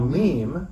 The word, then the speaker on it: meme: A meme, rhymes with dream, is a unit of culture.